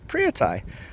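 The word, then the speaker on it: Phaya Thai: And she said it's Phria Thai.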